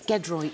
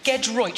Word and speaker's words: Giedroyc: Can you please finally tell me how you pronounce your surname? It's Giedroyc. Giedroyc.